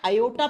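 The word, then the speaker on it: aorta: इसको ओटा या अयोटा प्रोनाउंस करते हैं। ठीक है? प्रोनाउंसिएशन के समय आर को साइलेंट कर देते हैं।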